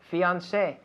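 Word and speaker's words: fiancé: fiance this is a this is a word that we steal from french yes it's fiance yes and in spanish how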